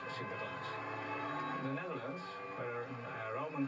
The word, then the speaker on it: Sinterklaas: In English, Saint Sir Klaas. And when you pronounce it fast, then you can Sinterklaas.